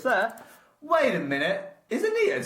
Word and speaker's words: Aeneid: the Greek and Roman canon, we're doing the Aeneid. And how is it spelled, Dan? With an A. Yeah, but spell it out.